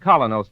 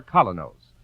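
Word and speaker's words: Kolynos: teeth isn't that correct we honestly believe that colonos toothpaste will help clean and polish teeth more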